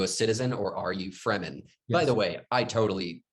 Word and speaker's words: Fremen: were pronounced here like i thought it was freeman and i was like okay you know like they're the free men like that's what i